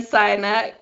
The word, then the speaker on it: Sinek: I have seen it, but how do you pronounce his surname? Simon Sinek.